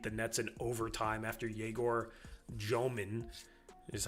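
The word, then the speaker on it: Egor Dëmin: Orlando needed a banked 3 buzzer beater from Paulo Banchero today to beat the Nets in overtime after Yegor Jomin, is how you say his name, got hot from 3 late.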